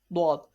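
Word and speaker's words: ض: Dwad is pronounced from the side of tongues touching the root of upper morals. Okay, and this letter is always pronounced in thicker voice.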